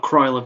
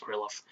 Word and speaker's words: Krylov: Then Krylov just, and it is pronounced Krylov, not Krylov, despite the spelling of his name, it is pronounced Krylov.